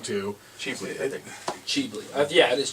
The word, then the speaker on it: Ghibli: pronouncing that wrong too cheaply cheaply yeah it is cheaply they pronounce c the G like a c g Lee okay and it's uh